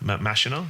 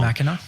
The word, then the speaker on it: Machina: So, Alex Garland, some of his like other things he did ex Machina Masha, I always pronounced that wrong. Machina.